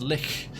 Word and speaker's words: lich: she's natural not sorry lich lich it's pronounced lick this relic lies in